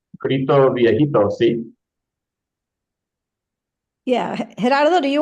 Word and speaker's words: Grito Viejito: How do I pronounce that? It's Gito Vipo.